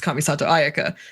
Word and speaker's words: Kamisato Ayaka: you know, oh no, in Japanese you would pronounce this Kamisato Aayaka.